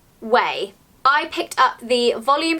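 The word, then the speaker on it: OUAI: I noticed that Jen Atkin, who is a celebrity hairstylist has released her new hair care range, which is spelt O-U-A-I, but apparently you pronounce it: 'way'.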